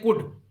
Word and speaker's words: could: उसी तरीके से अब देखिए COULD, इसको हम बोलते हैं कुड, यहां पर एल साइलेंट है, ओ साइलेंट है, कुड।